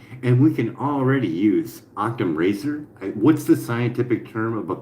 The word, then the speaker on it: Occam's razor: is the principle of parsimony, also known as Occam's razor.